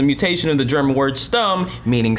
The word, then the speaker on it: shtum: Salvage B292 says, "Shtum, adjective pronounced stum.